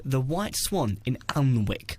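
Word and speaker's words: Alnwick: so we could just give it off early to this uh Hotel called the white swan in allenwick it's spelled a-l-n-w-i-c-k is that again sounds like one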